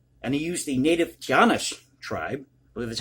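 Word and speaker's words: Taíno: of puerto rico and he used the native giannis tribe that's how you pronounce it for labor but because of the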